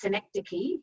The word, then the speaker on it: synecdoche: plausible sounds um and the way to say it is synecdoche it's greek so you've got that